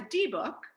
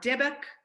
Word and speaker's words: dybbuk: But the D-book, some people pronounce D-book, some people say D-book or Dibbock.